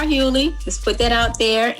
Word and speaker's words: Hughley: Hughley, like D.L. Hughley.